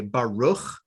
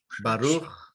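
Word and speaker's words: ברוך: You'll hear other people, the standard North American pronunciation is just like an R. We say Baruch. Baruch. And here in McAllen, we also have a lot of Spanish speakers. The Sephardic pronunciation is just like the Spanish R, Resh. Baruch. So in our congregation, you might be saying Baruch, and there's somebody on your right who's Israeli who says Baruch.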